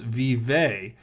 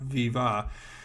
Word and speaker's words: vive: So obviously they didn't even know that in French it's vive and not viva.